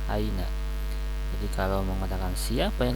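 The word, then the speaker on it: أين: Nah, ini aina dibacanya ya, aina.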